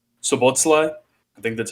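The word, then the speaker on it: Szoboszlai: I like, I'm going to try and pronounce his name, Sobotlai.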